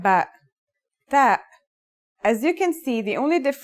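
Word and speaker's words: ت: The pronunciation is like the English T, except you should release your breath with a strong burst of air.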